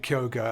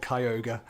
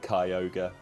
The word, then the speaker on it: Kyogre: you've started calling it kyoga and I've I've decided to go back to calling it Kyogre yeah I decided to go with Kyogre on the basis that that's the that's the Japanese pronunciation hmm that's not the